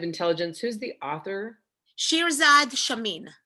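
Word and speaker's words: Chamine: book on positive intelligence who's the author shirzad shamin right here shirzat shamin is the author and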